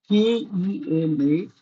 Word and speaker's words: Kemajoran: Now, the spelling is Kemajoran. I suppose this is the old spelling, old Dutch spelling. Nowadays they spell it as Kemayoran. This is pronounced as Kemajoran. It is not Kemajoran.